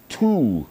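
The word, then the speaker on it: Thule: They were brought across the Arctic to Greenland by the Tul people, that's t hu L E, around a thousand years ago, which is pretty damn cool.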